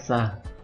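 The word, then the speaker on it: ça: dibaca S fas GL Kalau sa itu artinya itu tapi informal ini harusnya Sela kalau dalam tulisan Ca dalam pengucapan dia kita singkat sah kemudian e kalau fasat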